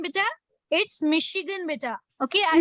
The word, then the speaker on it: Michigan: It's Michigan, beta. Okay, I spelled wrongly by mistake. I'm sorry for that. Okay, Michigan. Okay, It's pronounced as sh sound, beta.